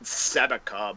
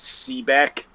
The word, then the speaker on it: SEBEC: Yeah, you've called the organization Sebeca, but in reality, I think the real pronunciation is Sebeck.